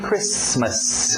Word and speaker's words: Christmas: essa expressão aqui Merry Christmas o t é mudo não pronuncie esse T Christmas Merry Christmas Happy New